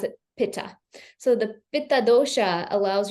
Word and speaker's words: Pitta: English yes people here in the west we pronounce it paa so the pad DOA allows you to really